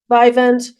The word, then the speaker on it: Vyvanse: You submitted as exhibit number 5 your prescription where you take how you pronounce it, Vivacin, Vyvanse? Vyvanse, and that that medicine contains the amphetamines, correct?